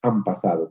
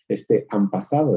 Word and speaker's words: han pasado: Por más que nosotros en han pasado escribamos una H-A-N y luego una P, sabemos que en realidad no lo pronunciamos así, decimos han pasado, pronunciamos una M.